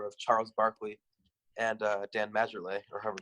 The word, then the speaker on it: Majerle: Charles Barkley and Dan Majerle, or however you pronounce his name. Ellis, how do you pronounce his name? Marley, it's just Marley.